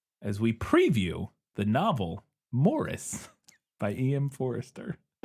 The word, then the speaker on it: Maurice: cover this saying that actually British people pronounce it Morris.